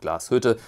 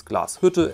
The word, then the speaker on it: Glashütte: people say glasshoot but the e at the end of the word is spelled and there's an umlaut and so it's glasshutter and that's the entire